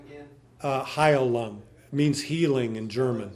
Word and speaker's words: Heilung: I discovered the group Heilung, which is kind of a Scando-European, Proto-Germanic sort of music.